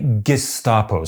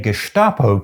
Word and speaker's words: Gestapo: And I have another reason for believing that the standard pronunciation ought logically to be “Geshtapo”: that’s the pronunciation you’d expect according to the phonotactic rules of standard German.